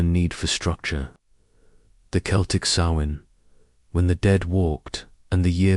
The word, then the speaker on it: Samhain: It began on the night of October 31st, a festival they called Samhain, pronounced Samhain, and it was not a celebration of light returning but of darkness falling.